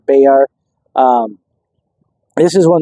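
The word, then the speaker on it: Bexar: a county seat a beay County uh it's spelled you know with an X so people mispronounce it but it is beay beay um this is one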